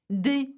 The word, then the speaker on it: des: Des fleurs, some flowers. So have a look at des has an S, fleur has an S. We pronounce neither.